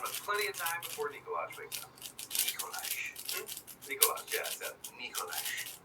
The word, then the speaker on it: Nikolaj: I'm your father, Nikolaj. It's pronounced Nikolaj. Nikolaj. Nikolaj. Nikolaj. Nikolaj. Nikolaj. Nikolaj. Nikolaj. Nikolaj. Okay, just take it wrong.